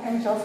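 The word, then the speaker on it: anxious: তৃষ্ণার্ত, search for খোঁজা, অ্যাংশাস ফর উদ্বিগ্ন। এটা উচ্চারণ অনেকে করতে পারো না, সঠিক উচ্চারণ অ্যাংশাস স্পেলিং প্রনাউন্সিয়েশন।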